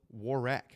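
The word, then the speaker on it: Waraq: guess from Warwick, but they call themselves War Rack like Iraq. War Rack. Yeah, like w a r a q.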